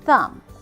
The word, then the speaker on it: thumb: Krum num bomb and thumb what do you notice about MV so not only is the be silent it's at the end of the word it's not in the